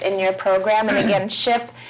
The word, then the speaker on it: SHIP: your program, and again, SHIP is the pronunciation of the acronym that is meaning the State Health Insurance Assistance Programs.